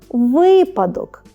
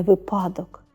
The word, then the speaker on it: випадок: і трапляється багато помилок повторюйте за мною типові слова яких часто ми робимо помилки випадок а не випадок стався випадок в кращому